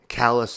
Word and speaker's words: Callous: Callous isn't like C-A-L-L-A-S, like Dallas would be. It's not the same spelling, but it's the same pronunciation.